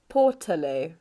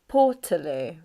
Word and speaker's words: portaloo: pronunciation of this word we want the stress to be on paw and then this sound here in the middle is a schwa so it's portaloo portaloo so what does this